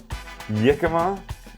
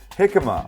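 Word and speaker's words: jicama: off this the yika here's the deal it's spelled j i c a ma a jika probably not yika perhaps hikima a lot of people say I have no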